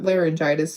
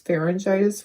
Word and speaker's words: pharyngitis: Not laryngitis, pharyngitis with the P.